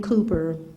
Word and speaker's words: Cowper: This man his name is William Cowper, but it's spelled C-O-W-P-E-R.